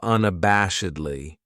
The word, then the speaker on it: unabashedly: Then we have unabashedly. This adverb has 5 syllables, and the stress is on that third syllable. That bash. Unabashedly. That second syllable has that schwa, that sound. Unabashedly.